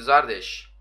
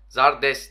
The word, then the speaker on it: Zardes: Haydi bakalım devam ediyoruz şimdi Zardeş. Zardes de diyebiliriz. Zardeş de diyebilirsiniz. Nasıl telaffuz ediyorsanız.